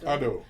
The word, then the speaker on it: Adu: And I liked thinking through Adu, or how do you say it? Adu.